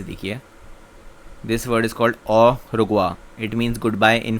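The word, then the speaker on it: au revoir: Sixth is, यहाँ पे आप प्रोनाउंसिएशन ज़रा ध्यान से देखिए। This word is called of रुगवा, it means good bye in French.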